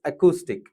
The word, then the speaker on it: acoustic: IPA has given the phonetical transcription as acoustic. So, if IPA decides, there is no other way. We need to pronounce it as acoustic. It doesn't have ow sound. It has oo sound. So, it's acoustic.